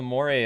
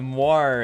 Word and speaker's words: moire: Okay, it's the moire. I think that's how you say it. Moire. Moire. It's spelled M-O-I-R-E.